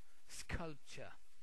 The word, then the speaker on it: sculpture: Sculpture. So here it's ch, sculpture.